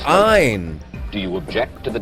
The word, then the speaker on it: Ayn: country noted for this kind of government one pronounce her name Ein do you object to the Democratic process I